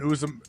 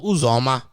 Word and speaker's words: Uzoma: I'm pretty sure it's something along the lines of Uzoma. It's definitely not a U, it's U, and it's definitely not a Za.